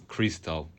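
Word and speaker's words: Xtal: by Charlotte Gainsburg and before that you listen Crystal by FX Twin. FX Twin. I mean it's funny because it is type as XAL but supposedly you have to pronounce it as Crystal.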